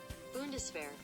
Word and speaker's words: Bundeswehr: Bundeswehr.